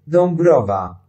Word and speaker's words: Dąbrowa: If A or the IA or AA, I don't know how to say these, come before B or P, the nasalization is less, and therefore the M sound is following them, as here.